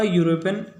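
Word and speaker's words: European: क्योंकि स्टार्ट तो भले ई से हो रहा है पर इसका प्रोनाउंसिएशन जो है यह हो रहा है। यूरोपियन जो हम कहते हैं तो इसका प्रोनाउंसिएशन यू हो रहा है और जो कि हिंदी का कॉन्सोनेंट है, तो यहाँ आएगा आर्टिकल ए।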